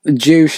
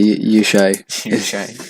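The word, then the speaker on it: Juche: Juice is a lot of other things. It's like juice. Please pronounce it properly. Sorry, Yushay.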